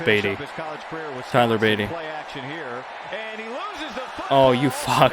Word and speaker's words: Beatty: I'm not calling him Bidet. It's spelled Beatty.